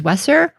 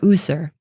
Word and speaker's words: wsr: It represents the sounds for WSR, which in modern times we pronounce either as Wesser or User.